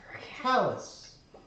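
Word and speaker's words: Kalas: My name is Callus. It's a horrible What? name for a cat. Callus. Like when your skin gets too hard after it gets poked a lot?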